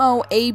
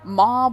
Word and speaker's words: MOAB: guys it's legit and I got some M Moab gameplay Moab mob whatever all these people call it I prefer